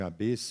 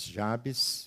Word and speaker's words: Jabes: foi a Jabes em Alguns falam de ABS mas Jabes vamos usar esse termo esse essa pronúncia foi Jabez mais ilustre